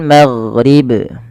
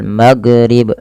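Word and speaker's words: الْمَغْرِبِ: ag ya wal maghrib ma tipis jangan maghrib tapi wal magghrib gin ya tidak boleh mantul tidak boleh dibaca wal maghrib ya kadang ada yang memantulkan huruf gin nah ini kurang tepat dan keliru karena huruf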